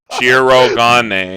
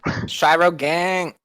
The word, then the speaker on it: Shirogane: Never say that again. Shirogane. Yeah, Shirogane. Yeah. None of that English dub fucking pronunciation. Shiro Gang. No.